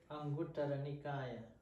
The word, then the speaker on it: Anguttara Nikaya: As the Buddha said in the Anguttara Sutta, how do you pronounce it? Anguttara Nikaya.